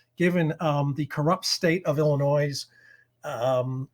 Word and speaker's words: Illinois': the corrupt state of Illinois, and I'm saying Illinois apostrophe S, not mispronouncing my own state's name, of Illinois' arcane election